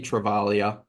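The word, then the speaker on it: Travaglia: And then we're going to go with the Saints rookie, Toby Travalia. I've finally learned that there's no G in the pronunciation.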